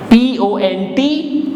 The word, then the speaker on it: pont: S-U-R, R will be pronounced, so it becomes sur, la, P-O-N-T, T will not be pronounced, P-O-N will give pon sound, because O-N is O and P is po, so it becomes pon.